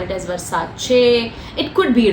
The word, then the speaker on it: Versace: to call it as Versace it could be right okay but then when I travel and when I was in Italy um most of these Italians pronounce it as Versace so um this is